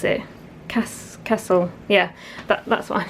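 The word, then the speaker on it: Kassl: I'm wearing a rubbery raincoat today from a brand that I believe is pronounced Castle. They're spelt K-A-S-S-L. I can't think of any other way you'd pronounce it. Castle, yeah, that's what I'm saying anyway.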